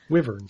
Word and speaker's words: wyvern: Google pronunciation says it's wyvern.